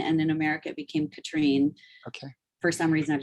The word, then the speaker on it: Catherine: it's not Catherine. It's, how do you say your name? I know please do not apologize, because it's the French side and it's not intuitive. It's Katrine. Katrine? Like Catherine.